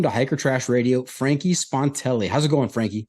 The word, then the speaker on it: Spontelli: they tend to say spontanele add um some extra syllables in there but you nailed it